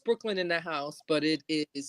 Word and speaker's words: BKLYNNDAHSE: On Instagram, it's pronounced Brooklyn in the House, but it is spelled out BKLYNNDAHSE.